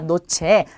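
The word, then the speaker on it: noche: 자, 그 다음에 누베는 구름입니다. 그리고 나리스는 코예요. 코. 우리 신체 부위 중에 코 있죠. 자, 그래서 전부 다 그냥 니은으로 발음이 되는 거죠. 그래서 노체, 누베, 나리스 이렇게 발음하시면 돼요.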